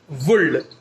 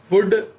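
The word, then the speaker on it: would: कई बार हम प्रोनाउंसिएशन में गलती करते हैं, हम एल को जो कि साइलेंट है उसे भी पढ़ देते हैं, रीड कर लेते हैं, जैसे कि कुल्ड, शुल्ड, वुल्ड। बहुत सारे बच्चों की ये प्रॉब्लम्स होती हैं, तो आप उसे ठीक करें, वहां पर एल साइलेंट है उसे पढ़ना नहीं है, शुड, वुड, कुड ऐसे पढ़ना है।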